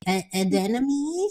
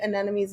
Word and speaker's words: anemone: Adenome, sure. Anemone. Where Yeah. would you find these? Definitely the long one would be at the flower market, and I think anemones may be at Trader Joe's.